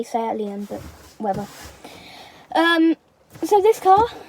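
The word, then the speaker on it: SEAT León: I say Seat Leon, but whatever.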